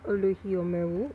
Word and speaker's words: Olohiomeu: Um it's pronounced Oluhio Meru, or you can just call me.